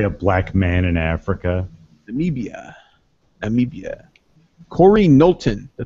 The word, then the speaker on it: Namibia: road nice big way also that's how you pronounce it namibia now me bia there may be a close